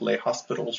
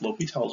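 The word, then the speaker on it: L'Hôpital: l'hopital's rule remember it looks kind of like leh hospitals rule but it's pronounced l'hopital's rule and it's an easier way of doing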